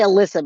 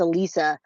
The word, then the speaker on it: Alisa: I keep saying her name wrong, Alisa. I say Alyssa, but it's Alisa Petrov.